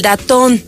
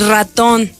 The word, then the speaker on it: ratón: Y entonces empiezan a decir el datón en lugar de decir ratón, ¿no?